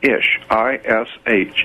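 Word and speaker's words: איש: The word man in Hebrew is ish, I-S-H. It's pronounced ishi.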